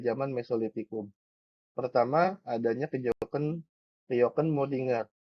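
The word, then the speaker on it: kjökkenmöddinger: Pertama, adanya kejoken kejoken Modinger. Atau bacanya biasa biar gampang ingat kejoken Modinger ya.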